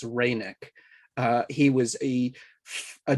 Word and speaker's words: Reinach: reineck uh once again we're not even sure how he pronounced its name it's our best understanding it's reineck uh he was a